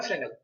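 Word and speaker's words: Fresnel: लिखते हैं फ्रेस्नेल लेकिन इसका प्रोनाउंसिएशन होता है फ्रेनेल।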